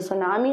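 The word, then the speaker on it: tsunami: तो बोल रही हूं सुनामी सिर्फ टी कहां गया तो भाई इसमें टी जो है वो साइलेंट है क्योंकि ये जो है ना ये एक जापानीज वर्ड है इसके बारे में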